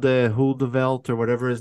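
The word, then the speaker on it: Heuvelt: Hoedevelt.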